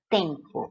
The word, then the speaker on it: tempo: Então, esse EM não formou dígrafo aqui, como formaria na palavra tempo. Aqui, ó. Em tempo, você não fala em, você fala tem. A pronúncia correta é essa, ó. Tempo.